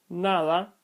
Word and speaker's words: nada: The soft D is pronounced in the rest of the positions not occupied by the hard D, Like the example given earlier, nada, the D is inside of a word and therefore is pronounced soft because it's following an A, so it's not following an M, an N, or an L, so it remains soft.